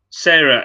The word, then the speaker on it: Sarah: It's pronounced Sarah as in carer.